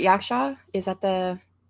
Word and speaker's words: Yaksha: Yaksha.